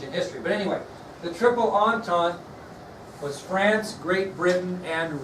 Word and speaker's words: Triple Entente: The next alliance, doesn't sound like it's spelled, was the Triple Entente. The Triple Entente.